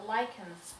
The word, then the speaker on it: Lacan: Absolutely, and I think I'd rather approach this from a Lacan's perspective. Lacan's. What is Lacan's theory? Oh, good job pronouncing that name correctly.